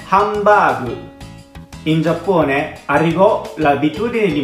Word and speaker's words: ハンバーグ: Hamburger alla pronuncia giapponese si dice hambagu.